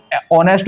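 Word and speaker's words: honest: तो सी वाज एन आएगा क्योंकि ईमानदार है तो ऑनेस्ट होगा, यानी हमारा साउंड ऑनेस्ट, ओ की आवाज निकाल रहा है और वॉवेल्स का रूप होता है, एच यहां पर साइलेंट रहेगा, तो यहां पर एक के लिए आपको एन लगा रहा है।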